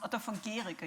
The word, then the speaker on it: Otto von Guericke: By the way, in case you were wondering, this is pronounced Otto von Guericke University.